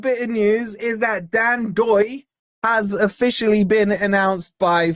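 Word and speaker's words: Dan Ndoye: And I think he gave some fantastic insight into Dan Doy. And by the way, you dropped the N just for you guys. If you're wondering, pronounced Dan Doy.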